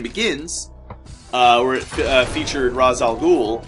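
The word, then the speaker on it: Ra's al Ghul: uh where it featured razal ghoul or raal ghoul as he's actually properly pronounced um the uh Ral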